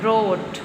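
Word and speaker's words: wrote: इसमें भी हमने आर ओ टी ई रोट बोला है। लेकिन राइट करने के लिए हम डब्ल्यू का यूज करेंगे। ठीक है? डब्ल्यू इसमें साइलेंट है। रोट रोट रैप रैप।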